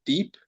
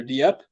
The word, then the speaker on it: Dieppe: I think it's pronounced Deep or Dieppe, New Yep.